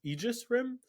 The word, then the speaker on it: Aegis Rim: uh i realized that it's pronounced aegis rim because i've been saying it embarrassingly wrong for my entire life